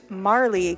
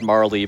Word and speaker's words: Marle: We are going to be naming her Marley. Capital M A R L Y. All right. There's different schools of thought on how to pronounce this character's name. I mean I've always said Marley. Marl works too.